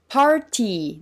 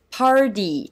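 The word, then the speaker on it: party: ます例えばこの単語アメリカ英語ではパーティーではなくてぱウディと発音します polly r が t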